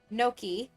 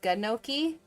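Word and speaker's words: gnocchi: like pronounce it as gunoki because it's a g but I know that's not at you the g is silent so it's always like no key note key apple pie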